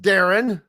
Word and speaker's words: Darian: His name is pronounced Darren.